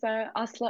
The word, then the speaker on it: Asli: Yeah, hi, my name is Asli, and.